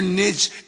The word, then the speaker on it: niche: Find your niche at any cost, bitch. I only said bitch because it rhymes with niche.